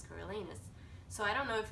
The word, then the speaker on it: Coriolanus: to pronounce his name I actually read the entire book called in Carolina's coriolanus in my head and then I rewatched The Hunger Games and I realized it's coraliness so I don't know